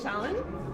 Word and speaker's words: Shallen: Shallen? Shallen? Yeah, Shallen. Shallen. But in Korea, they just say because the pronunciation is like hard.